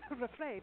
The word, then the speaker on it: Revry: I just want to keep saying Revry. It's a thing from living in South Africa. I want to make it Dutch. Sorry. But Revry, that's how I would pronounce it.